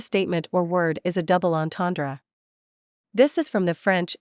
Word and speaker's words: double entendre: Give the word as close a French pronunciation as you can. The ends are nasalized, they are somewhat throaty, and the final syllable is barely audible.